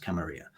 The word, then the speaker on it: Camarilla: camarilla depending on who you ask but properly pronounced camarilla um these vampires represent the hierarchy the status